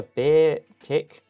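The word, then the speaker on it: Beartic: A beer tick. Oh, beer tick. I've been saying it wrong all all episode.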